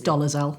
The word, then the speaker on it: Dolezal: But if someone said, like Rachel Dolezal, or however you pronounce her name. It's Dolezal.